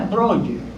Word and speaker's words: Breuer: Se pronuncia Breuer.